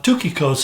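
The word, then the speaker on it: Tychicus: His name is, well, we would read it, Tukikos. Tukikos is really the way you pronounce it.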